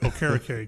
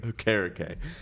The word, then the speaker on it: Okereke: Okereke. Okereke.